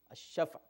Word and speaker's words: الشفع: اب اس کو آپ اپنے لہجے میں شفع کہہ دیتے ہیں لیکن وہ شفع، الشفع.